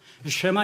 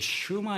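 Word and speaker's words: שְׁמַע: 제 히브리어를 배울 때 히브리어 교수가 유대인들은 이제 슈마 이스라 이렇게 보통 얘기한데 발음을 연음화시켜서 그래서 여러분들 어제 슈마 이스라엘에도 다 같은 말입니다.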